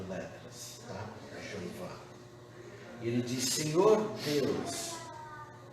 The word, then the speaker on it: Jeová: Em português nós pronunciamos Jeová.